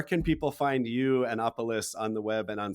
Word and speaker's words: Opolis: me out or check opolis out I should say just atopolis opolis is o p o l i s o polis if you need to say it phonetically um you'll never forget